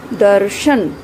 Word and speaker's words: दर्शन: आप देखें, शब्द को बोलकर देखें। दर्शन, दर्शन। र का उच्चारण कहाँ हो रहा है? द और श के बीच में, जबकि लगा किसके ऊपर हुआ है? ये श के ऊपर लगा हुआ है।